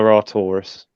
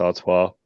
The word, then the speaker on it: Artois: But no, so Guinness, Blue Moon, and Stella Artois. I know it's Artois, but I call it Artois.